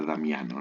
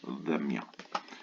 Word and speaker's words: Pedro Damião: analizadas por Pedro Damião, que en este caso en español se pronuncia Damiano, ¿no? Pero en realidad originalmente el nombre sería Pedro Damião.